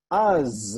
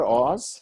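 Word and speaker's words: אז: Az. Do you know that word from somewhere? Az. It's not Oz, right?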